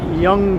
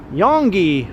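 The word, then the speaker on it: Yonge: now yeah this is Young Street but yes it's spelled as if it were pronounced Yong and that's how many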